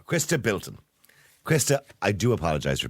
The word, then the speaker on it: Chrysta Bilton: wrong again is uh chrisa biltin is is it biltin or bin it's Christa B there you go Christa Bilton Christa I do apologize